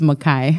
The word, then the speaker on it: Makai: Pronounce it for me. It's Makai. Makai.